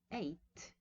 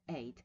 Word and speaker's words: ate: word to eat right eat has to past pronunciations right you can say ate right or at it is more frequent in British English but as you can see both are acceptable in British English at and 8 now 8 is the